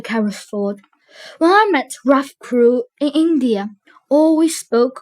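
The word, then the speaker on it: Crewe: They pronounced it Carew instead of Crew.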